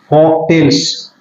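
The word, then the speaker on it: folktales: लोक कथाएं, लोक कथाएं, फॉक टेल्स, इसमें एल का है वो उच्चारण नहीं होता, प्रोनाउंसिएशन नहीं किया जाता एल का, एल यहाँ पर साइलेंट रहता है।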